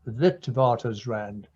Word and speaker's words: Witwatersrand: University of the Witwatersrand, which those of us from that university and medical school pronounce as Witwatersrand, Johannesburg, South Africa.